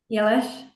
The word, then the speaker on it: Eilís: Pronounce it? Eilís.